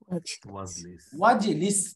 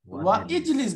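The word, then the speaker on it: واجلس: ওয়াজলিস তাই না? ওয়া ইজলিস বলা যাবে না, উচ্চারণ কি হবে? ওয়াজলিস, ওয়াজলিস, রাইট।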